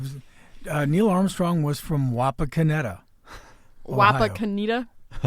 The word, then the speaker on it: Wapakoneta: Oh, man, I didn't know how to pronounce any of them. Yeah, it was, Neil Armstrong was from Wapakoneta. Wapakoneta? Wapakoneta.